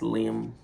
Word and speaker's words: limb: like like this limb or like a tree limb that ends with a silent B.